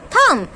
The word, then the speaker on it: thumb: Here this is thumb. So which letter is silent in this one? B, because we always pick thumb, right? So B is silent.